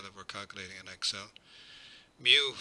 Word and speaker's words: mu: Mu, pronounced as it's spelled there, MEW, is the mean of a population as opposed to x bar, which is the mean of a sample.